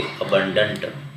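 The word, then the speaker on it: abundant: ठीक है, अगला वर्ड है हमारा एबंडेंट। एबंडेंट, एबंडेंट, जिसका मतलब होता है प्रचुर मात्रा में या बहुत अधिक, है ना। उसका प्रोनाउंसिएशन हम करेंगे अबंडेंट।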